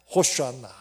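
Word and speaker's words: הושענא: 호슈안나. 히브리 말로 우리를 구원하소서라는 말이에요. 이게 호산나라. 우리가 흔히 쓰는 원래 발음은 호슈안나라는 말이에요.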